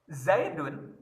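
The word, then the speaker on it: يا زيدُ: orang gitu ya contoh zaidun itu nama orang kan Isim alam dan Mufrad satu gitu ya Sekarang pakai ya sebelumnya ya zaidu jangan pakai tanwin ya tapi dibacanya Dom ya zaidu ya Umar nah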